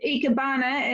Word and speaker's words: ikebana: or made you take um this art of ikebana is that how you pronounce it yes yeah and what made you